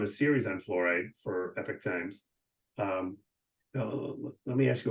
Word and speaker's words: Epoch Times: to Google it um it's uh epic times it's what it's spelled at the times I don't